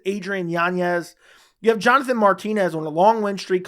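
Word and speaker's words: Adrián Yáñez: Martinez versus Adrien yanes I know people are going to say you're pronouncing his name wrong but this is how he always says you pronounce his name and I've been every time I get comments on you're pronouncing his name wrong but his name is Adrien yanes you have Jonathan Martinez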